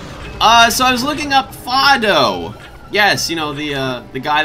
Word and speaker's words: Fado: First of all, found out that his name is actually pronounced Fado because the idea was that his name is based off of the, you know, the musical scale.